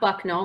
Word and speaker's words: Bucknell: Okay, so first up, Bucknell, so not Bucknell, which is what Jimmy Fallon mispronounced.